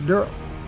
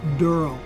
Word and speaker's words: Daryl: brother Norman Rez and he plays durl and it's spelled D e r l e it's not darl it's durl please get that right it boils down